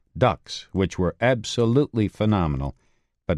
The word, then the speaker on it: DUKW: They labored from D-Day all the way through the battle with these vehicles called ducks, which were absolutely phenomenal, but very tippy, pronounced ducks, but spelled D U KW.